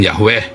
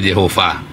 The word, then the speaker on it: Yehova: dia bilang begini ya namanya bukan yahwe namanya adalah Yehova diajarin cara bacanya Ya Mengapa ini karena ini Yehova dua jadi kamu harus benar dulu dalam kepalamu ketika tulisan y kepalamu harus bilang Yehova bukan yahwe selama kamu bilang yahwe